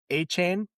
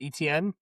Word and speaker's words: Travis Etienne: did you guys see Travis A-Chain? It's not ETN, it's A-Chain.